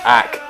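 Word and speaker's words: āc: a letter A and oak in anglo-saxon English was pronounced ACK alluding to the first syllable of the town's name the acorns refer to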